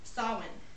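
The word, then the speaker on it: Samhain: from a Celtic Festival known as Sinn but it's spelled s a m h a i n yeah it's kind of weird it celebrated the end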